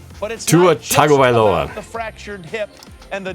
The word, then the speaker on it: Tua Tagovailoa: I was pronouncing his name all wrong, by the way. Tua Tagovailoa. I was missing a few consonants and vowels in there, mainly like 5 or 6 vowels. Tua Tagovailoa.